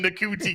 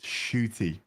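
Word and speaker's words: Ncuti: him I call him NTI gatwa it's like no it's as it's pronounced shooty okay stars with a a it's not how English works it's a it's a silent n okay you pardon I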